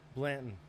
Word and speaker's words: Blanton: buddy how you say your last name Blandon Blandon okay so the way it's spelled um I haven't known you for too